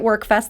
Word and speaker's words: WerQfest: I want to say I'm pronouncing it work Fest that's the right way to say it but if you're going to spell it it's We R capital Q so that's what you want